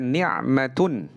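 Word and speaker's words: نعمة: Nah, demikian juga ni'matun. Ni'matun pakai ain, itu artinya kenikmatan. Tapi kalau diganti ainnya menjadi qaf, niqmatun, jadi bencana.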